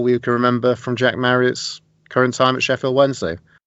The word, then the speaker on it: Marriott: Wasn't Andy Marriott a goalkeeper at some point? Could well be. English Welsh. You can't be both. English Welsh footballer. There you go. His name rhymes with whack chariot.